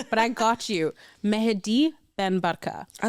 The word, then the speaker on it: Mehdi Ben Barka: The hardest part of doing this podcast is pronunciations, but I got you. Mehdi Ben Barka.